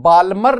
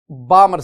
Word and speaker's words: Balmer: Student इसमें ना L silent है तो बाल्मर नहीं, बामर सीरीज।